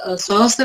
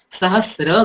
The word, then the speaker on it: सहस्र: Chanting उच्चारण करते हैं, तो जैसा फॉर एग्जाम्पल सहस्त्र यही वर्ड हम लेंगे तो सहस्त्र बुद्धे शब्द है तो स्त्र का उच्चारण हम करते हैं, मगर संस्कृत में इसका उच्चारण हम सहस्र करते हैं।